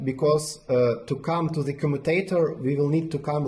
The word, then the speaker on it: commutator: Like this, like commutator.